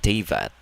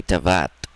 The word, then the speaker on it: Teyvat: But he is very, very not directed properly because he's not pronouncing Teyvat the same way other voice actors are. He's saying Tevat. Because other characters say Tavat.